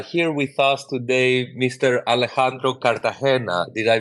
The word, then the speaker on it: Alejandro Cartagena: to have uh here with us today Mr Alejandro Cartagena did I pronounce that right sir hello hello that was